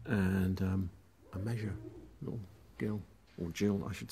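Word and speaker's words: gill: Jill, I should say, because I've been done for mispronouncing it.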